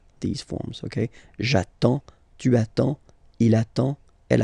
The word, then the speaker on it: j'attends: So the first form will be j'attends, j'attends, okay? You get D and S, well, basically you don't pronounce them, okay? And then you get only the sound attends, nasal here, en, j'attends, okay?